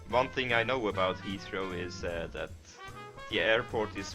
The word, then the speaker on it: Heathrow: In my opinion, the stress should be in the first syllable. How then? Heathrow.